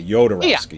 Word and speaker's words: Jodorowsky: Now, you say Jodorowsky. Jodorowsky? Whatever. Well, and I've always heard it, and they say it in the documentary, but it's the J sounds like a Y, Jodorowsky.